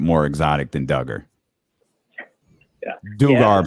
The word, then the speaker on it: Dugar: But real quick, last name is pronounced Dugar.